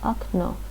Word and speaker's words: окно: Listen and compare how O sounds when stressed and when it is not. Дом. Окно. Dom. Akno.